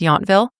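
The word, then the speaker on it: Yountville: a few Charming small towns around Napa like yville it's spelled yville but pronounced yville and St helina I could definitely recommend them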